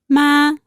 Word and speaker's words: 吗: And because of its special function, the word has no tones, so we only need to pronounce it very lightly. In questions introduced with 妈， we are expecting either yes or no as an answer.